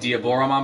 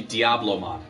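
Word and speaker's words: Diablomon: change they will actually the way they pronounced it does sound like Diablo Rahman but it was actually Diablo mod pronounced there was a mispronunciation in the translation from the Japanese to the American bad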